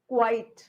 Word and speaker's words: quite: Pronunciation देखिए. Quiet. चुप रहना. Quit. छोड़ना. Quite. काफी हद तक. QUITE काफी हद तक. QUIT quit. I quit. मैं छोड़ती हूँ.